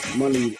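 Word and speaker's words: Muni: Her name is pronounced money money.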